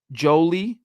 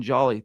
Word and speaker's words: Jolie: Jolie, by the way, it's not Justin Jolly. That's my bad. The uh Senior Bowl rosters that I was given with my credential a couple weeks ago, they don't offer pronunciation guides. I looked at it and I thought it's just Justin Jolly. It's just Justin Jolie.